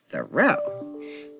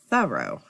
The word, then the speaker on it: Thoreau: We always say Henry David Thoreau. But I was up visiting Louisa May Alcott's place, Orchard House, and the tour guide helped me pronounce it as Thoreau.